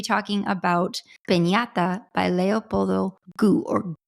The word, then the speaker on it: Gout: Now, full disclosure, Ronnie and I have been mispronouncing this for a number of episodes now, but we're glad that we finally got it right and we're saying it correctly and more in line with how he himself says his own name.